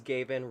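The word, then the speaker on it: Gaven: hi my name is gaben rhymes with raven uh they them i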